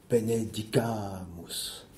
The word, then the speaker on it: benedicamus: Le subjonctif du verbe benedicere, qui se manifeste par la voyelle A, celle qui porte l'accent tonique, benedicamus, exprime qu'en tout temps,